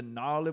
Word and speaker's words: gnarly: the gnawley barley the gnarly ballet yep gnarly with the g i always thought that was a cool way to spell gnarly with a g you know because the g is silent and ipa is always